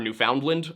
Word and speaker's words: Newfoundland: And I've also heard Newfoundland. I don't think that one's right either. I believe that the correct pronunciation would be Newfoundland, right?